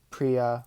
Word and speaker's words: Priya: with v ghi priia Priya rhymes with CIA a repti toid a